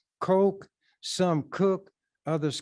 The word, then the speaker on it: Koch: who has that as a name Coke some cook others cotch but the CES pronounce it Coke this article was written or published October the